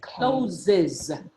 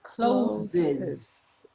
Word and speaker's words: closes: you're responding it closes you need to pronounce that e in order to pronounce the s okay and it closes